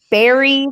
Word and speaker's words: bury: I'm reading Bury the Hatchet. Berry spelled like a strawberry.